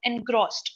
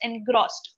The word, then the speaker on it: engrossed: One was the pronunciation of engrossed. Okay. So I noticed that the O was being pronounced with, like, you know what, opening your mouth more. So it's engrossed, or sound, right? Engrossed, right?